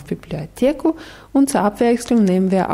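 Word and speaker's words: библиотеку: Bibliotheka klingt fast wie im Deutschen. Bibliothek. Genau, wieder mit der Präposition w. Wohin? W. Bibliotheku. Genau, Bibliotheku.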